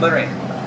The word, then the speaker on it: Lorraine: Lorraine. Like a migraine without a G.